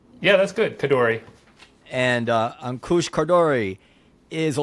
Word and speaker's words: Khardori: Khardori? Is that pronounced correctly? Yeah, that's good. Khardori.